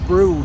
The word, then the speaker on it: Brewood: to i think it's brood that i'm coming up to it's sort of spelt bree wood but i think it's pronounced brood so let's see what